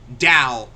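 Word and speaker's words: Dao: Dow, that's what they're called. It rhymes with drown. It does rhyme with drow, but there's no real reason for that.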